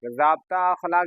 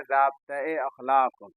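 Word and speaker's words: ज़ाब्ता-ए-अख़लाक: जाब अखलाक जाप्ता अखलाक भी बोलते हैं उच्चारण में लेकिन उच्चारण इसका शुद्ध होता है जाब्ता-ए अखलाक।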